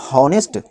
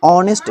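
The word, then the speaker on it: honest: यहाँ एच से लिखा गया है, इसीलिए इसे हम हॉनेस्ट यानी हॉनेस्ट नहीं पढ़ेंगे, इसे हम ऑनेस्ट पढ़ेंगे। इस वर्ड में भी एच जो है साइलेंट है, इसीलिए इसे हम ऑनेस्ट पढ़ते हैं, जिसका मतलब होता है ईमानदार।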